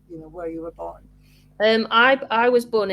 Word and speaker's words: Board: all about you Lucy Bor um I actually got your name wrong the first time because I thought it was yeah yeah I think